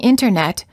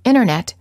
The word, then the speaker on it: internet: famous Americans t afterton the T after an N or n Sound is often silent instead of saying internet you will frequently hear Americans say internet this is fairly standard speech and it's not considered overly casual or sloppy speech words for practice interview 20.